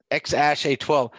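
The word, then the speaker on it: X Æ A-12: that it's supposed to the A and the E symbol is pronounced like ash. Yes, so it's the letter X, X ash, and then A12, and then A12. Yeah, X ash A12.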